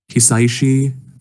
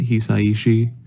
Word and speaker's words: Hisaishi: yeah yeah he yeah the composer's name is hisaishi I believe is how you pronounce it hisaiishi and he did compose